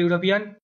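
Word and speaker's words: European: ইউরোপিয়ান, অ্যান হবে না, এ হবে ওখানে, ইউ উচ্চারণ হচ্ছে।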